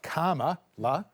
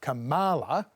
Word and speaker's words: Kamala: than an American accent, it's going to be more like karma, la, as in karma chameleon, la. But typically Trump and Conservatives try and put the stress on the ma, not the ka, so it's Kamala.